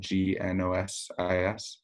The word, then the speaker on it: Gnosis: And Gnosis, I should note, is spelled with a G at the beginning, Gnosis.